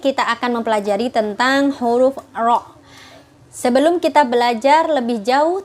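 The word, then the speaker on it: ر: Jadi pengucapan huruf ro itu tidak seperti RR biasa yang kita biasa ucapkan di Indonesia, tapi dia agak menempel dengan rahang atas dan lidahnya membentuk seperti mangkok, maka tidak terbaca R tapi ro.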